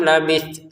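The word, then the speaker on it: لبثت: Kam labit. Nah, di ujung-ujungnya ada ta maka kita tetap lafazkan itu ada nafas keluar. Labit labit qabit gitu.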